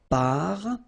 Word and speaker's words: parfum: You don't pronounce the M at all. Un. Okay? So parfum.